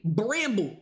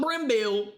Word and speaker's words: Bramble: On October 12th, 1980, 9-year-old Lolana Bramble's mom, Marlene, leaves the house. That's how you say her name. Bramble. Not Bramble. Bramble.